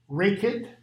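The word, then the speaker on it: Rekhyt: How do you pronounce his other name? Reckitt, Reckitt. The E is an A, sound like cafe.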